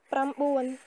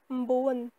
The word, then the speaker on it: ប្រាំបួន: vite, vous pouvez dire mboan. Mboan ou pamboan. Pamboan. En cambodgien, lorsqu'on veut abréger les syllabes, enfin les mots de 2 ou 3 syllabes, on abrège toujours, on prononce presque pas la première syllabe.